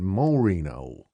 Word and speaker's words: Morino: Creel, Fyoni, Larry, and Morino. The sheriff accented the first syllable of the last name.